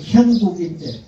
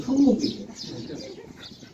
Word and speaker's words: 형국: 제 이름은 형국인데 우리 어머니는 한 번도 아들 이름을 제대로 불러본 적이 없습니다. 맨날 형국이 아니라 흥국이에요.